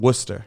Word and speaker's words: Worcester: New York to uh Worster which isn't spelled that way wer um Worcester wer I can't ever say it right W so